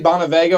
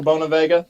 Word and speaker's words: Bonaviga: Which is crazy also because I've gotten Bonaviga, I've gotten Bonavega, I've gotten Bonavega. I'm down for whatever, honestly. How do you pronounce it? I usually say Bonavega or Bonavega.